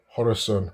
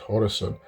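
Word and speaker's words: Khorasan: it Persians call it Horus right but from the way we spell it in English coron um I guess I'll call it hor you know it sounds good the way Iranians call it horerson so that area that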